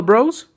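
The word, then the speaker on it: Breaux: what's it called nola bros nola bro so bros is spelled like cajun oh dalvin bro b r e a u x o s so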